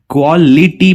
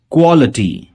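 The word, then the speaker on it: quality: क्वालिटी, काफी लोग इसे क्वालिटी प्रोनाउंस करते हैं, लेकिन ये इटी नहीं, ये अटी से प्रोनाउंस होगा। क्वालिटी।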